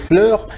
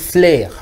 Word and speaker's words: fleur: Alors, on doit dire fleur, mais on a l'habitude de dire flair, les flairs. Or que ce n'est pas ça la bonne prononciation, on aura l'habitude de dire, on aura plutôt l'impression de dire autre chose. Pourtant, le mot c'est fleur.